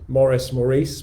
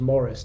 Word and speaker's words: Morris: So if you missed it, so I've been calling Maurice, because that's how, to me, that's how it's spelled. So that's how I thought it was pronounced. And I was corrected earlier this week by Charlie, the site manager down at Shepton, who said, actually, it's Morris, not Maurice.